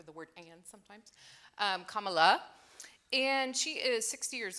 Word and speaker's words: Kamala: and yes for the record her name is pronounced Kama like put a comma after the word an sometimes um Kamala and she is 60 years old she's from